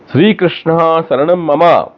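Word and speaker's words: श्री कृष्णः शरणं मम: श्री कृष्ण के बाद दो बिंदु हैं, जो विसर्ग है उसका उच्चारण करना चाहिए, श्री कृष्ण शरणम मम। मम के बाद में विसर्ग के बिंदु नहीं है, ममहा नहीं करना है, मम।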